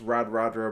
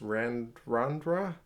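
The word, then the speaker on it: Radradra: what I've been told it's not pronounced rad rad rare but it's R & R Andra it's a Fijian thing where ins invisible ends getting certain to some words like Nandi instead of Nadi the city anyway pretty hard to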